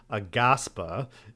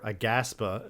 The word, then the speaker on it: Aghasba: it this week but towers of aaspa or aaspa is I believe how you pronounce it so this was a